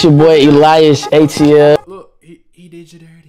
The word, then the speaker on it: Elias: Elias, bro. I was saying Ilias.